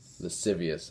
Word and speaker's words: lascivious: Verse 3, don't give into wantonness, and its recklessness, and lascivious.